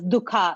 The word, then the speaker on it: dukkha: which is dukkha. In English, it would be, if you write it down, it'll be pronounced dukkha, but dukh is what we say, right?